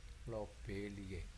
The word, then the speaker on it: lobeliae: Lobeliae, ada A di sini dibaca E, jadi dibacanya lobelie.